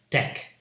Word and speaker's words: deck: Okay, let's say deck, d-e-k. First it's D sound. Oops, okay. And there's a vowel, and then the final consonant is a K. It's spelled CK, but it's a single consonant K, deck.